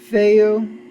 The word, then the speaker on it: Fehu: It's pronounced Fe hu.